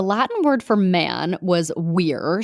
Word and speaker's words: vir: word for man was weir spelled v-i-r we would pronounce it ver so if you are